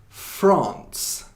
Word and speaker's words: France: 오케이, 이거는 France. 근데 한국말로는 프랑스라고 하잖아요. 근데 영어로는 France이라고 해요. 그래서 어떤 것이죠? 이거 어떤 거죠? 이거 France. 이거는 하나. 그냥 한 음절 하나로 발음한 거예요. 그래서 France이라고 하는 거예요.